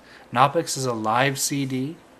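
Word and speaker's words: Knoppix: where to even start I would say download knopic knopic is a live CD it's spelled k n o p p iix or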